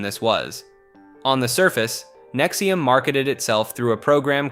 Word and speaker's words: NXIVM: NXIVM, pronounced NXIVM, was a self-described personal development organization founded in 1998 by Keith Raniere and Nancy Salzman in Albany, New York.